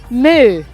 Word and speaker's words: MØ: this prom to use a brick shaft welcome Moo thank you very much did I pronounce it correctly you really did I did